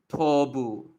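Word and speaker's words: 東武: So it's like to. You don't say mu in this case. It gets upgraded to the sound becomes harder. It's not M anymore. It becomes a B. So Tobu.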